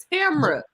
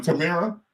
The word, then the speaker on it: Tamra: How do you pronounce her name? Tamra. I'm sorry, their name. Tamra. Okay. What was I saying? Tamara?